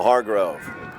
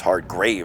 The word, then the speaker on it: Hargrave: Chase Santos, Kosi Milner, and Daniel Hargrove. will face off against Ian Bourne. That's Hargrave, I believe, actually, as I mispronounced his last name.